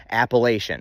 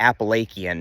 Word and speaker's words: Appalachian: get in on now technically both pronunciations are correct dictionaries and everything contain both pronunciations if if you want to argue either one's correct you're right my perspective always came came from the fact that if you presented this word to anybody who reads English and they never heard anything about it before phonetically they would pronounce it Appalachian or I could concede